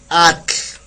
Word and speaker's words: atl: Atl, ATL, atl, ¿sale?